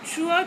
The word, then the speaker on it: true: Though the spelling is T-R-U-E, but the pronunciation is T-R-U, true, right? That E is silent here.